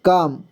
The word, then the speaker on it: calm: but the tortoise remained calm देखिए यहाँ पे काम लिखा हुआ है CALM, लेकिन यहाँ पे एल साइलेंट है, एल को उच्चारण नहीं हो रहा है, ठीक, एल का उच्चारण नहीं हो रहा है।